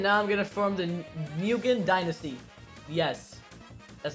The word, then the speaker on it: Nguyen: Alright, I annexed them, and now I'm gonna form the Nguyen Dynasty.